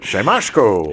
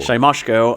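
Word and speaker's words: Siemaszko: I had to put the pronunciation down because I could not ever say it right. Shyamyosko. Shyamyosko.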